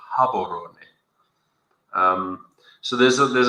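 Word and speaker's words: Gaborone: __ ] I mean kabon is right across the border or as they pronounce it habon um so there's a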